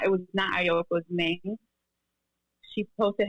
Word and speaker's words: Aoki: Yes, Aoki.